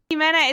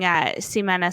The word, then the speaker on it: Ximena: Well, actually, I'm surprised that you know how to pronounce the Spanish X, because it depends on where you're from. If you're from South America, you will call me Ximena.